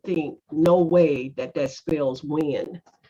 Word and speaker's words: Nguyen: His last name, you would think, no way that spells Wynn. His last name is spelled Nguyen.